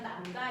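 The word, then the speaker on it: λ: 그래서 이런 얘기인데 파장을 우리가 간단히 기호로 쓸 때는 남다 이렇게 써요. 글이 써야 이걸 남다라고 읽어.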